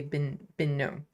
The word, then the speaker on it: Benoit: Benoit is how you say Binot. Benoit.